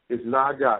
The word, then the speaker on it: Naga: It's Naga. It's N-A-G-A. Hold on. Just spell it for us, because we have some other callers, okay?